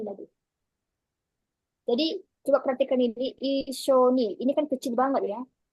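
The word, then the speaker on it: いっしょに: Kalau saya buat su besar, kan sama ini semua. Berarti kalau besar, kalau misalnya saya pakai ini, su besar, maka dibacanya Itsu Shoni. Oh, udah beda lagi. Udah nggak ada artinya itu. Itsu Shoni, nggak ada artinya. Tapi saya buat yang kecil, jadinya Ishoni.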